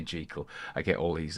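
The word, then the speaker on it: Jekyll: and Mr Hyde now J is the actual Scottish pronunciation so don't comment on that because every time I say gel I get all these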